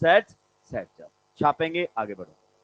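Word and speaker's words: Saytzeff: आज आपको पहली बार बताया जा रहा है, इट इज प्रोनाउंस एज सेट्जअप।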